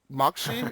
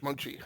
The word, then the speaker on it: Mocsy: today inside the sphere we have um Moxy I may have messed up the pronunciation of that no problem it's Mochi it's Hungarian mchi okay great thanks a lot uh is